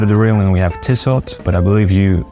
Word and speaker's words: Tissot: At the side of the railing we have Tissot, but I believe you pronounce it Tissot.